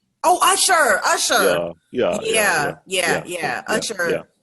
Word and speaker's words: Usher: spell it? It's Usher. Oh, Usher, Usher.